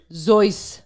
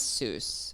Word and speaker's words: Seuss: It's pronounced Is Charlotte right? Zeus. Yeah. What? Bro. Oh, in German. Yeah. Although then we accepted the Americanized Seuss.